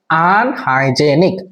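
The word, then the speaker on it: unhygienic: হয়ে গেল আনহাইজিনিক আনহাইজিনিক উচ্চারণটা হবে আনহাইজিনিক আনহাইজেনিক মানে হচ্ছে অসস্থকর আনহাইজেনিক উচ্চারণ হচ্ছে আনহাইজেনিক অসস্থকর মানে হোল এরিয়া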